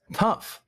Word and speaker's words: tough: What does tough mean? Difficult. Interesting. Tough means difficult. The pronunciation for tough is with the F sound. F. The final sound is F.